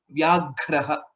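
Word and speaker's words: व्याघ्रः: So here, if you see in this, Vya is a Sanyuktaksharam. Similarly, Ghra is a Sanyuktaksharam along with the Mahaprana. Vyagraha is the right pronunciation.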